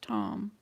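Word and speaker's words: Thom: r i c e t h o m pronounced tom wisconsin oh yes oh no that's regina okay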